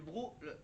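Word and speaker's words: broc: par exemple le fameux bros d'eau. Donc donc le brodo d'eau, c'est c'est le bros. Comment ça s'écrit br ? B R O C. Il y a un C après le O de br le br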